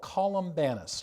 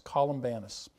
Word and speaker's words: Columbanus: And another one was called Columbanus, just like it sounds, Columbanus.